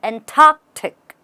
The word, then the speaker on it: Antarctic: in the Antarctic or the Antarctic but the Antarctic you always should know that in English pronunciation the T or the P or the